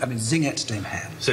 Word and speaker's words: Singet: So in choir two, he starts just the word Singet, two syllables.